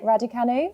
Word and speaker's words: Raducanu: Oh I my can't pronounce her God. surname. I know. Raducanu, Go. yeah. Well, how do you say? Raducanu.